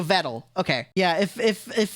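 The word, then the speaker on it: Vedal: to be like rude it rhymes with pedal okay so vettle okay yeah if if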